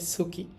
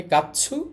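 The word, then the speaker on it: 月: এইজন্য কাঞ্জিটা এরকম হয়ে গেছে।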